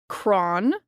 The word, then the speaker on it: Cron: so this is Michelle cron not cron cron cron so she says it's like Ron with a c so thank you Michelle